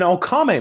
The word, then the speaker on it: Okame: let me get my notes up so I pronounce them right. It is an Okame mask.